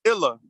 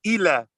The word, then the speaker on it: ila: pronounced like an E, some people pronounce the I short, like eh. So they'll say illa, but we say ila because we know the L is soft, so it's going to make the vowel A soft, la, and we know